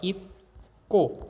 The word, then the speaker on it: 입고: 그러면 이게 어떻게 발음되냐면 경음화 현상으로 인해서 입고 이렇게 발음됩니다.